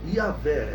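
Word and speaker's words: Yahweh: por Eu Sou, e a pronúncia dele seria Yahvé. Essa é a pronúncia mais aceitável, né?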